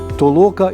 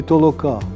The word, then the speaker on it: толока: подорож варто бодай говорити про амбівалентне тобто двоїстий наголос толока і толока це якраз і відповідатиме